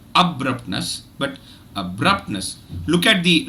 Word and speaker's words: abruptness: just observe abruptness but look at what I do with the third syllableness I don't say Nest I sayness I don't give it that much prominence I will not give it that much energy I don't give it that much duration so a stress syllable